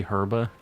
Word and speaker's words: Herba: or well okay so I think that people in like Australia and other places pronounce the h they say herba but I think most people in the state say Urban and that's how like